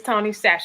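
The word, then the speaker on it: Tony Chachere's: one second zach dan it is tony stash okay i just looked up a commercial i've been saying it wrong for a very long time okay next up we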